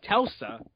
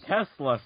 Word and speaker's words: Tesla: The news lines up with rumors that Apple is working on something that will give Telsa a run for its money. Telsa? Yep. You mean Tesla, sir? Yeah. Mispronunciation.